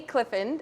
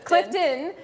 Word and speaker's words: Clifton: i'm doing well thanks i think i just pronounced your last name wrong it's all good we talked about her dad's name is clifford her last name is clifton and clifford gets in my mind because um of dogs